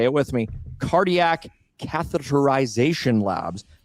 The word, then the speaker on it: catheterization: it with me, cardiac catheterization labs. Catheterization, that's six syllables in one word.